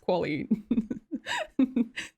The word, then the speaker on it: Kwoli: My name's Qualally. It's pronounced quali.